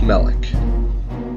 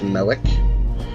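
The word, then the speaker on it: Malek: of the former brethren Malik that is how it's pronounced Melek I don't know what's with the Naha but it was pronounced at the last game as Melek I not sure why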